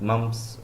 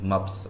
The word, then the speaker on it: MUPS: capsule muffs capsule sorry maybe if i have pronounced it mumps so it is maps okay sorry for that